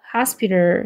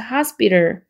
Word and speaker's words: hospital: 하에 강세 있죠? hospital 해서 하 강세 주시고 그 다음에 스브의 쌍비읍 발음 spi를 이것도 t가 리을 발음이에요. 그래서 hospital 이렇게 됩니다.